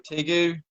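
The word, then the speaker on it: tegu: this thing for a tigue t gu hey hope you pronounce it uh t-e-g-u there you go there you go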